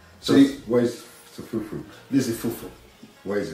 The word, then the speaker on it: fufu: We call it fufu. Okay. Can you pronounce it, please?